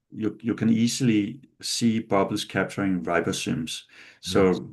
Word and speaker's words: ribosomes: you you you can easily see bubbles capturing ribosomes. So ribosims how do you say that in ribosomes?